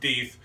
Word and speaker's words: Deth: and i have confirmed it is not pronounced death it is pronounced deith so i can put